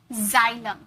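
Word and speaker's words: xylem: rule number 2 देखिए, rule number 2 है, word के शुरू में अगर एक्स आ जाए तो उसे ज में प्रोनाउंस करते, ज में प्रोनाउंस करोगे, ओके, ज नहीं ज, जैसे जाइलम, जाइलम, जिनॉन, एक्सरे, यहाँ पर तो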